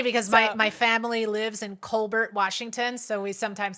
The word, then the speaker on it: Colbert: the French way, so he says it the French way. It's funny because my family lives in Colbert, Washington, so we sometimes say Colbert.